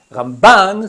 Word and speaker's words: Ramban: Si on dit Rambam, avec l'accent tonique sur la première syllabe, c'est Maimonide. Ramban, sur la deuxième syllabe, c'est Nachmanide.